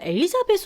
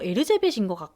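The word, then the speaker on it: Erzsébet: 받았어요네 다음은 에르자베 있니다 미국 발음으로는 엘리자벳 발음이 되는 거 같은데 헝가리 발음 상으로 에르제베트이 에르자베 부르기 때문에 르제베르는 인물은 앞선 두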